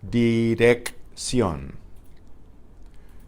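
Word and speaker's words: dicción: for right question right when you have these double C's they're pronounced separately DDX young like a K and an s D dick see on and you'll see double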